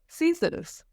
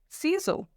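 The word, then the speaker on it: ciseaux: Okay, दूसरा आता है हमारा सीजर्स।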